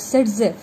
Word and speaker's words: Zaitsev: Okay, so this part of the pattern first observed by the Russian scientist Alexander Zaitsev, pronounced as Zaitsev.